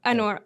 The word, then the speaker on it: UNRWA: My second question was, the funding was cut on UN, I think it's pronounced UNRWA. UNRWA, exactly.